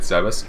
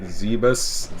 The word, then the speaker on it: Zebes: First I thought it was Zebes, then I thought it was Zebus, something like that. Zebus. In the intro cutscene of the original NES game, it was called Zebeth.